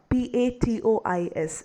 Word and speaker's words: patois: We also need to be aware of this word patois, P-A-T-O-I-S, which is pronounced as patois.